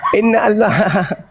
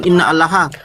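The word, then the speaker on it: إِنَّ اللَّهَ: Innallaha. Innallah. Bukan innallah. Imran 45. Ketahuan bukan innallah. kafir laknatullah kah? Aduh innallah di situ. Innallah innallah. Woi innallah bukan inna allaha parah.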